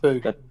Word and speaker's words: Beppu: How do you pronounce that? What? Beppu.